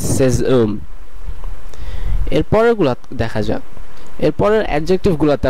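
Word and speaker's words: ses hommes: মতন হয়ে যাচ্ছে এবং সেজ ওম। আমরা লেখার সময় আশটাকে ব্যবহার করব, কিন্তু উচ্চারণের সময় আশটাকে আমরা সাইলেন্ট রাখবো, সেই কারণে এটির উচ্চারণ হবে সেজ ওম এবং আপনারা বাংলাতেও দেখতে পাচ্ছেন এটির উচ্চারণ সেজ ওম।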